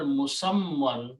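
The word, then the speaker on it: مسمى: And the word musamman, musammun is actually word. which actually we pronounce as musamman.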